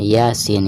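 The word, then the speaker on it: يس: Jadi dibacanya 6 harokat sekali lagi ketika kita membaca ya nya itu dibaca Dua harokat dan ketika membaca seinnya itu dipanjangkan 6 harokat Iya Sin seperti itu Hai baik sekarang kita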